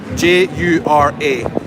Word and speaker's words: Jura: J-U-R-A. Jura. Same as the island.